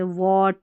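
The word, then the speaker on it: wheat: तो यहाँ पर सभी में H जो है ना वो साइलेंट है, वॉट, वीट, व्हील, वेन, वाइट और विच, यहाँ पर हमने H को नहीं पढ़ा है।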